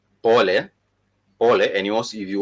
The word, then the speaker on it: pole: that, we also do have words such as pole. If you have wronged someone and you want to apologize, you would say pole, and you also, if you want to emphasize, you would simply say pole sana, which is P-O-L-E, pole, which is sorry.